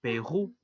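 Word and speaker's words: Pérou: El siguiente país es Perú, que en francés se dice Perú. La combinación de vocales OU suenan a U y el artículo que lo acompaña es le porque Perú es un país masculino.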